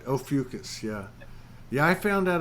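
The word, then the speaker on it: Ophiuchus: How do you pronounce that? Ophiucus, Ophiucus, or that's right. Ophiucus, yeah.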